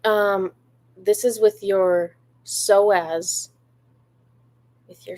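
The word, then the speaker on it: psoas: Google so the um this is with your soaz with your soas it's spelled in a crazy way PS o a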